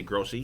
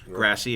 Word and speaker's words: Grassi: I usually say Grossi because that's how it's spelled, but it's Grassi if you listen to the bumper.